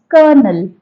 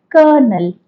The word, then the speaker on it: colonel: It's colonel, colonel.